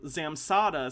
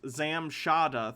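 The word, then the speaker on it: Zamshada: measure those results um zamsada says everything weighs the same unless you change the parameters then the weight changes but it's the same guy also my name is pronounced zam shada thanks zam shada okay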